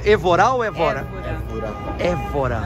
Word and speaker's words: Évora: Como é que se pronuncia? Évora ou Évora? Évora.